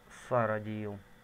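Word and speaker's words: Сиродил: Мне почему-то больше нравится версия в Моровинде, как перевели на русский язык Киродил. Потом мы все-таки выяснили в Обливине, что все-таки правильно произносить Сародил.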